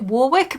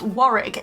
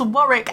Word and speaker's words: Warwick: people might pronounce it Warwick but it's Warwick it's Warwick after Warwick Castle here in the UK so there is a